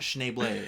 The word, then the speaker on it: Schneebly: like they don't have cool names yeah and schneebly yeah makes sense ned snively yeah classic um schneebley that was funny to me it's pronounced schneible actually yeah i like his like kind of